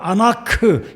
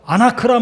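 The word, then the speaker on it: ענק: 아나크, 히브리 발음으로 아나크란 말은 목이 긴 백성이다라는 뜻입니다.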